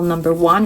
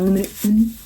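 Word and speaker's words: Numéro 1: I was saying it's the Chanel number 1 and it's the Chanel Numero 1. That makes sense. I'll say like in Portuguese. Numero 1.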